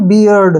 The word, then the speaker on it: beard: बर्ड पढ़ते हैं, जो कि गलत है, ठीक है ना। इसको जो उच्चारण करना है हमने, BE का जो उच्चारण